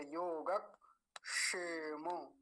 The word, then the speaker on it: योगक्षेम: मिलाएंगे और यहां देखिए कैसे बोलेंगे अगर सही बोलना है योग ऐसे करके योग शेम अजीब लग रहा होगा आपको लेकिन ऐसे ही बोलेंगे योग क्योंकि ये जो